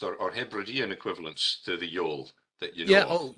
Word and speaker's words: yawl: Trondheim Yole, which is spelt Y-A-W-L. And this is part of the linguistic problem, because actual fact it's a Yole really, but because of the Irish dialect, it sounds much more like Yole.